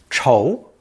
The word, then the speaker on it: 仇: It's pronounced second tone, 丑, 丑.